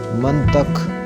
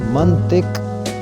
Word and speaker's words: منطق: بولتے ہیں، رویہ، رویہ۔ منطق، توئیں کے اوپر زبر، یہ غلط تلفظ ہے، اس کو صحیح کر کے پڑھیں گے منطق، اس کام میں یہ